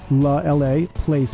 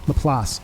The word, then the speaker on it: La Place: LA Place, Place, Laplace is how it's pronounced. Laplace, I'm from the East Coast. It's like Place, and it's a capital P in my last name.